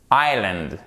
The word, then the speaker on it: islands: quel type de mots par exemple ici le s et le elle lorsqu'il s'agit d'une île c'est silencieux tout le temps par exemple dans le mot and islands hockey ahl santoni ici on n'entend pas le s dans les deux mots d'accord quelle que soit